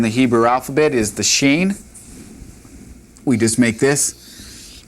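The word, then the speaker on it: שׁין: Sheen.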